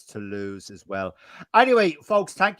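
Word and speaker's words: Toulouse: B the other semi-final to lose we quns how do you say that go for quick to lose right great job Mike in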